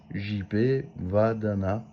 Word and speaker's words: JP Vadana: Donc voilà, je vous invite déjà à le soutenir, JP Vadana, c'est comme ça se prononce.